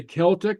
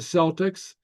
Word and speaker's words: Celtic: So Kimmer, how, Kirk, chicken, uh, Celtic, we say Celtic, not the Celtics. You know, it's not the Boston Celtics, it's the Boston Celtics.